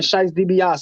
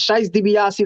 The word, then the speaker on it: Shys Debiocci: you can find my music just type in scheisse dibiase is scheisse dibiase like the like the wrestler t d b